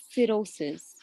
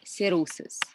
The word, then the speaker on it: cirrhosis: Tissue this refers to cirrhosis the H is silent in cirrhosis number eight a serious